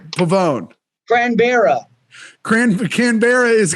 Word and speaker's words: Canberra: be here all right pavone gran barra cran canberra is correct that one yeah what the [